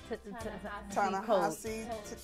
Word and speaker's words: Ta-Nehisi: But this alliteration is new, because from what I understand, they're going with, I always say his name wrong, Ta-Nehisi. Ta-Nehisi Coates.